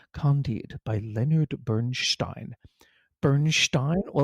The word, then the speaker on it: Candide: There's a very famous radio station where they had an announcer say, "And that was the overture to Candide, not Candide, Candide by Leonard Bernstein."